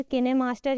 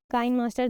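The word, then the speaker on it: KineMaster: Number 1 is movie, then we have adobe premiere rush, फिर किनेमास्टर या काइन मास्टर, दोनों pronunciations use किए जाते हैं.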